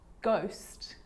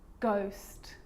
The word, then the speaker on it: ghost: With a G, ghost, ghost. And with an R, rhythm, or rhyme.